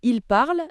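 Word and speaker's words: parlent: Donc je parle, tu parles, il parle et il parle.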